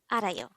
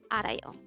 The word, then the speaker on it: 아라요: study about the word arayo let's start learn korean one word at the time only here at dehango word number 152. this is pronounced as a three-syllable word the first syllable is